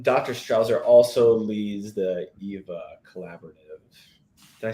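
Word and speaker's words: ʻiwa: But EVA is spelled IWA. Do you want to tell us the meaning behind EVA? EVA, like Viva La Eva.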